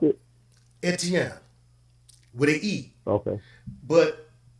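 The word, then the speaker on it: Étienne: say stephen in france and how do they pronounce it etienne where they eat okay but aside from that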